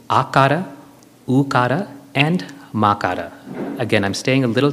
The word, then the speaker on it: makara: And makara, M-A-K-A-R-A, is the third syllable.